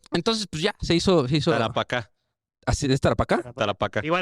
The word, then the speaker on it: Tarapacá: nombres de forma tan perfecta, pero no pueden pronunciar Tarapacá. ¿Tacarapá? ¿Cómo es? Tacarapá. Es que tenemos un capítulo, güey, que hablamos de la guerra del Taparacá. ¿Ya? Tarapacá.